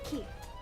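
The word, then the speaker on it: 木: The kanji for tree can be pronounced as ki. That's just one way to pronounce it.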